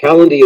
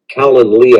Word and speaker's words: Calendly: Calendly is a great, Calendly, I should say, is a great app.